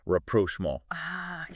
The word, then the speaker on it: rapprochement: Rapprochement. The pronunciation on that one. I know, right? It looks like rapprochement. You gotta swallow the T. It's French.